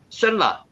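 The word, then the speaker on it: שֶׁלַח: 셀라를 낳고 셀라는 에벨을 낳았으며 샬라, 샬라에서 나왔습니다. 샬라라고 읽혀집니다.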